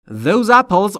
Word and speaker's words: apples: friends are friends those apples are fresh آنهاز آنهاز آنهاز سیب ها تلفظ اپل دقت بکنید پل نیست اپل اپل به این دلیل که بین پی و ال صدایی وجود نداره پس اپلز سیب‌ها آر هستند